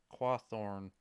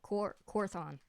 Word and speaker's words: Quorthon: Even though you always say Quathorn. I don't know why. Oh. Quorthon. It's like my brain is just like, and I say it wrong.